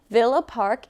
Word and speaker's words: Villa Park: for that question from Villa Park Illinois with no s pronunciation because that's incorrect I've learned that specifically